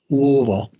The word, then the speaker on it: Louisville: Although for all those who are native Kentuckians, I'll have to say it's Louisville.